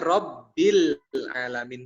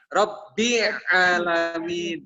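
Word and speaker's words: ربِّ العالمين: Karena bacanya Rabbil alamin, bukan Rabbi alamin, ya.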